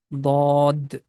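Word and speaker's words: ضاد: can use the left side of the tongue. But make sure that the tip of tongue is not going to touch with the frontal teeth.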